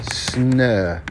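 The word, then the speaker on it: snö: i'm gonna teach you the swedish word for snow and that is s n and this funny letter that oh with two dots pronounced air snur that snow we were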